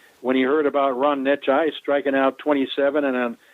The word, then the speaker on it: Necciai: Well, the way you pronounce his last name, it's Ron Necciai. Ron Necciai. Right. It's Necciai. Now, if you had called him Necktie, then you would have been in the company